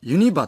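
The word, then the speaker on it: ユニバ: 大阪人はユニバといい、ににアクセントをつけています。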